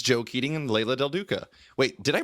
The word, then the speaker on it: Leila del Duca: It's Joe Keatinge and Leila del Duca. Wait, did I pronounce that right, Leila?